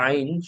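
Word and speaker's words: عين: আইন উচ্চারণ করতে হয় হলকের মধ্যখান থেকে, অর্থাৎ গলার মধ্য হতে আইন উচ্চারণ করতে হয়। এবং আইন উচ্চারণ করার সময় গলার মধ্যে একটু চাপ সৃষ্টি করতে হয়।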